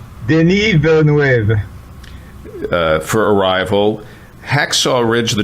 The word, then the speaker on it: Denis Villeneuve: Dennis, how's it pronounced? Denis Villeneuve.